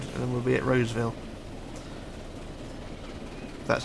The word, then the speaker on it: Roseville: We've got one more corner to go around and then we'll be at Roseville. That's how you pronounce it.